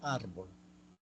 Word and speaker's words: árbol: Por ejemplo, árbol. La penúltima sílaba es ar.